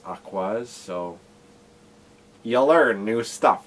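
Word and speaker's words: Aqours: I thought it was a course but it's pronounced aquas so you learn new stuff I guess I'm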